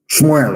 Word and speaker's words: Samuel: Let me tell you what Samuel said. Shmuel, of course, correct pronunciation.